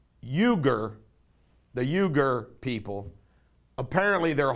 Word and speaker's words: Uyghur: time pronouncing this word i think it's euger the euger people apparently